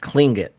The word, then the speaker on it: Tlingit: But I will say, I believe when you see it, it looks like Tlingit or Tlingit. I believe it's pronounced Klingit.